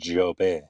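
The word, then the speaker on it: Jobe: It's French. It's pronounced job.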